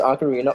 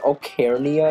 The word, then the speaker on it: Ocarina: I used to pronounce Ocarina Ocarnia, because I was a retard.